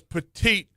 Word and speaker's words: petit: How does petite shorten to just T? Like, well, you don't pronounce the last T, so it's just Right.